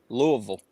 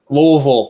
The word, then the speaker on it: Louisville: well it's not louisville's louisville louisville sorry i gotta say it like the locals louisville sounds like they don't even open their mouth you say louisville when